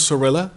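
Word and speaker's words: Zorrilla: so again may we have your name and spell it so we have for the record my name is Sorella okay see ARL OS sir Li spelled Z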